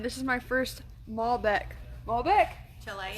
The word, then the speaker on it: Malbec: Malbec?